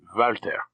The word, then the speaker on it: Walter: nod of the head valter said the thin mouth above the black whiskers correcting drax's pronunciation and my what shall